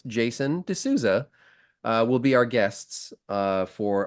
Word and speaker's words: D'Souza: it makes it so easy to like pronounce phonetically. So it's Jason D'Souza will be our guests for our live Piercing Wizard podcast at the UK APP conference.